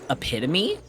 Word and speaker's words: epitome: I think a big one is the word epitome, Oh, epitome. because yeah. it looks like epitome, and that confused me so much as a kid.